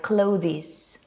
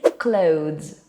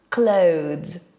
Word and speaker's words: clothes: And what makes it so difficult is the last 2 consonant sounds. The, z. So many people end up saying something like clothes or closes.